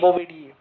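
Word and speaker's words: Bovidae: बी ओ वी आई डी ए ई बोबिडी। ठीक है? हम प्रोनंसिएशन कर सकते हैं बट स्पेलिंग हमें क्लियर होना चाहिए क्योंकि जनरली जब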